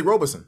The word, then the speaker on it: Robison: I say Robison. That's what I thought. No, Robison.